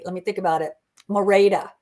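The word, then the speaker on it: Merete: Mora, that's how you say her name. Mora, not Merit.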